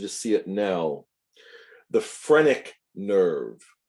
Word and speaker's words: phrenic: see it now the phrenic nerve phrenic spelled with a ph a ph renic the phrenic nerve this